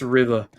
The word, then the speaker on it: RVR: No idea how to pronounce Unique, but I've been informed that RVR is pronounced River.